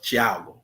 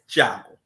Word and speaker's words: Thiago: we find out that Raphael's real name is Thiago, or the way it's spelled is Diago. But I've always heard to say Jago.